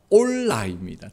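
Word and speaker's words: עֹלָה: 번제가 히브리어로요, 발음 그대로가 올라입니다. 특이하죠. 한글말로 올라, 이거 뜻이 똑같습니다.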